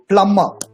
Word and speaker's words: plumber: Plumber. The right pronunciation for this is plumber. You know what this is? This is a drug. This is marijuana. J silent. In plumber, B silent.